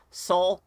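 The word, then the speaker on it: Sol: main character is called soul bad guy soul spelled like the sun bad guy that is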